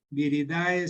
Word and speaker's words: viridae: Viridae se escribe, la terminación AE en latín se pronuncia como E.